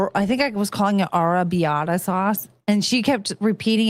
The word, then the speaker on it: arrabbiata: He said, arrabbiata.